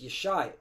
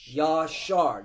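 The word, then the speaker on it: ישר: When you go into that word upright, it's Yeshai.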